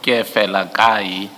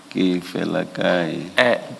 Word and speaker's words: Kefelakai: The surname is pronounced as follows: Kefelakai. Kefelakai.